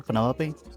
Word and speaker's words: Penelope: Is that short for Penelopey? Officially, yes, but I never can be bothered with all four syllables of it.